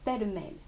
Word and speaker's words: pêle-mêle: Et là, j'ai décidé que comme c'était un double mot, normalement, la vraie, véritable situation géographique de l'accent tonique devrait être sur mêle, mais ça marche aussi avec pêle.